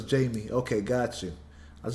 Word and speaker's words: Jamie: Okay, so it's Jamie. Okay, got you. I was just making sure because I know some people pronounce it as Jaime, and I'm like, I